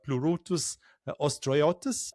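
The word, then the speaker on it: Pleurotus ostreatus: What made oyster mushrooms especially plurus ostriotus?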